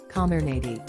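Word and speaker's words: Comirnaty: means the pfizer vaccine gets a brand name calmer nady it's pronounced come here not t according to the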